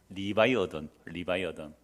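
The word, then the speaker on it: Leviathan: 자 여기서 리오야단 영어식 발음은 뭐예요? 영어식 발음은 뭡니까? 리바이어든.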